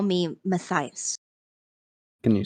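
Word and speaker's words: Mattahius: ask the same thing you can call me maias can you spell that m a t t a h i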